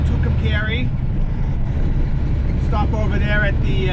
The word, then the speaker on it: Tucumcari: New Mexico that only truckers know how to pronounce. It's called Tucumcari.